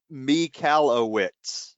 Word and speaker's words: Michalowicz: been saying it wrong it's me cala wits know that you nailed